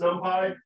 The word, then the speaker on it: NumPy: And it is normally pronounced NumPy.